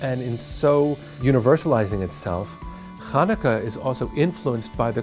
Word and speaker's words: Hanukkah: that'd be pretty cool the name chanukah can be a challenge especially in an american vernacular because the sound isn't there so when you try to spell it some people spell it scientifically where an h stands for the sound but it's not it's actually ha so if you're being very careful it's hanukkah but that's even hard to hear hanukkah hanukkah it's a